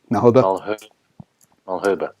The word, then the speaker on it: Malherbe: So Kitshoff marks Mahelber, is that how you say it? In the front row. Malherbe.